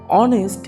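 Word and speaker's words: honest: হি ইজঅান অনেস্ট ম্যান অনেস্ট এটার এইচটা silent alphabet এই কারণে ওটা আগে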